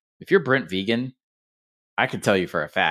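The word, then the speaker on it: Vigen: It's vegan, like vegan, doesn't eat meat or dairy."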